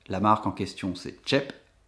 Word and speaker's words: TJEP: La marque en question c'est Chep, ça se prononce Chep, ça s'écrit T-J-E-P, et en danois ça veut dire vite.